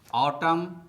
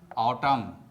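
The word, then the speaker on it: autumn: You repeat after me. ऑटम ऑटम column column solemn solemn condemn condemn him हिम डैम डैम लिम लिम तो दोस्तों आपको भी silent letter N से बने शब्दों का इसी प्रकार से प्रोनाउंसिएशन करना चाहिए।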